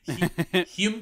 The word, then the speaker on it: Hume: Hume? Yeah, it's just Hume. Hume? Hume Cronin. Hume Cronin. There we go. That took 20 seconds. Hume Cronin played Arthur Keats in The Postman Always